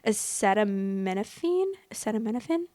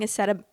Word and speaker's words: acetaminophen: Acetaminophen. I keep forgetting how to pronounce it. I'm like, I think I was saying acetapetam.